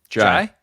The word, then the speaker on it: Ndiaye: Say it. It's Jai. Jai? It's just Jai.